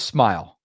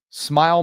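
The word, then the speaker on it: Smael: His name is Smile. Smile.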